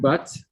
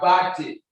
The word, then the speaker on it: Bate: Is it Bat? Yeah, I don't think that is the, I don't think that is the correct pronunciation. Mr. Bate Idigbe. He is from here now, so he's supposed to know the name, how to pronounce it.